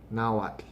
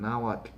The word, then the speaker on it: Nahuatl: but practice it because some people are get lazy and they just say not with just a solid t at the end and not pronouncing that tl the spanish didn't have that sound in their language so they utilized two of their letters to represent that t and the l but you have to start looking at that as not two separate sounds it's just one in and now what it's one sound so um the first